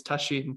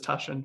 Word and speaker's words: Tasshin: In Japanese, it's Tasshin, but almost everyone says Tashin, so including me.